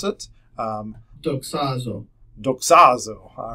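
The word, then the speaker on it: δοξάζω: one is you can figure out how to pronounce it um doxazo doxazo all right so that was better than how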